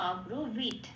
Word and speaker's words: অব্রবীত: কন্ডক্টরটা সংস্কৃতিতে সবসময় ত হিসেবে উচ্চারণ হয়, আর লেখাগুলো ভাঙলে একটু হসন্ত হয়ে যায়। কারণ যখন আগের অক্ষরের সাথে যুক্ত হয় তখনই ওই লেখাগুলো কিন্তু সংস্কৃতিতে হসন্ত হয়ে যায়, তাহলে হয়ে যাচ্ছে অব্রবীত। কারণ তটা তো আলাদা করে ত হিসেবে উচ্চারণ করছি না, সেই জন্য হসন্ত।